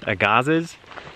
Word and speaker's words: Agassiz: doing is called Mount Agassiz. That's what we've decided the pronunciation is. But it's spelled A-G-A-S-S-I-Z. So however you want to determine that is pronounced is up to you.